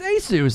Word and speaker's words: Asus: responding to me oh I am saying it correctly Asus yeah it's Asus that's how Google says to say it what does Microsoft know